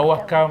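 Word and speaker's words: Ouakam: Wakap. Oui, Wakap. à Wakam. Wakap ou Wakap? À Wakam. Ah, Wakam. J'ai prononcé en Wolof.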